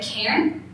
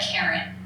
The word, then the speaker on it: Cairn: we've taught you anything, remember your pronunciation. Be a Cairn, not a Karen.